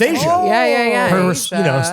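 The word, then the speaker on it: Aja: But you could spell Asia the Steely Dan way. Oh, okay. I like that. Same. A J A. Yeah. Oh, pronounced Asia.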